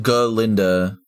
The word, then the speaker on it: Galinda: pronounced Galinda idiot.